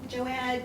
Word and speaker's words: Joad: The Grapes of Wrath Tom J am I pronouncing that correctly Joe Joad J it's Cedric aera Tom J moving along